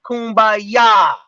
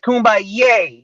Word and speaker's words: Kumbaya: iyame all right Kumbaya it was not Kumbaya all right it's Kumbaya that's how you pronounce it it's two different